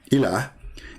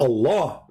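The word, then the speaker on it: إله: But al-ilah, al-ilah, ilah, is simply E-L, and there is little H at the end, like a sound of a music. Ilah. Still, it's ilah. It's not Allah.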